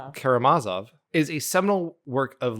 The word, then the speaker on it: Karamazov: Karamazov.